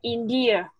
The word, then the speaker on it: indeed: A friend in need is a friend indeed. Indeed. Cái này không phải đọc là âm đò rõ như thế, tức là âm cuối kiểu đò này nó chỉ là âm gió thôi.